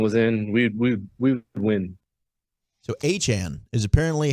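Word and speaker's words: Achane: the other day too, going A-Chan, and not A-Chain. And Raheem Mostert earlier in that interview, he tells Rich Eisen that's how we actually are supposed to pronounce it. It's A-Chan.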